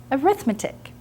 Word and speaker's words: arithmetic: that is arithmetic now i know you might look at this word and say well that's a pretty bad math teacher she can't even pronounce arithmetic now i don't know who decided this but most of the time we do pronounce it as arithmetic while we're talking about the sequences in series sorry not my fault now i want to